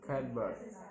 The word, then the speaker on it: cupboard: Bird always pronounced cupboard, cupboard, even in slow talk in very articulate.